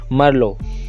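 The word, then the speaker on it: Merlot: जैसे कि हमारा पिनो में टी साइलेंट रहा था, वैसे ही मरलो में भी टी को साइलेंट रखकर प्रोनाउंस करा जाएगा। तो हम इसको प्रोनाउंस करेंगे मरलो ग्रेप।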